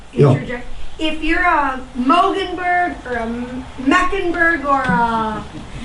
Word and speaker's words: Moegenburg: Moegenburg.